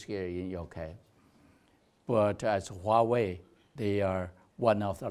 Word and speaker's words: Huawei: We have a very huge company, Huawei. Now you're Warwick here, a very similar pronunciation.